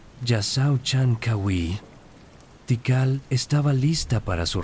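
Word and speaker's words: Jasaw Chan K'awiil: La ciudad había caído bajo el dominio de Calacmul, pero ahora bajo un nuevo gobernante dinámico llamado Yasao Chankawi pronunciado Yasao Chankawi.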